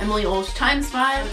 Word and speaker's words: Emily Ulsh X5: Basically what my channel name is, Emily Ulsh X5, how I like to pronounce it, Emily Ulsh times 5.